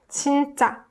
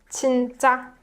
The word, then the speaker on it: 진짜: 진짜. So it's more tensed up version of 지, and it's more high pitched, just like every other final consonant, right? 진짜. Really. 진짜.